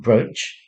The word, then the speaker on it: brooch: straightforward this word is spelled brooch but it's pronounced brooch and that's not worth much either and the